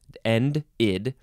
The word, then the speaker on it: ended: And so I guess if we're looking at the pronunciation guide, it would be pronounced id after D or T. So ended, end id.